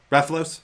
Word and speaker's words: Rathalos: Rathalos.